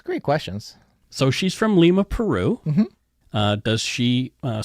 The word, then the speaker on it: Lima: I got you from Lima Peru from Lima Peru not Lima like the people who in the United States pronounce that place no no cuz that's